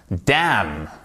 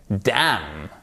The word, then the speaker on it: damn: Damn, ok? Damn. On ne prononce pas le N.